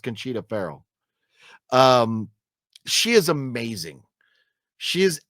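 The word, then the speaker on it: Conchata Ferrell: I thought it's Conchita Farrell, but it's spelled like Conchata, but I thought it's pronounced Conchita Farrell.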